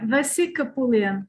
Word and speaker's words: Vessi Kapoulian: a favor go ahead punch your name for us pronounce bessie yeah vasika pullian yes you pronounced it perfectly well wow but i stumbled